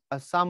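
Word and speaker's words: Psalm: মূলত Henry O long ফেলোর সাম of life. এটা কিন্তু পের উচ্চারণ হবে না। পি এখানে সাইলেন্ট হবে।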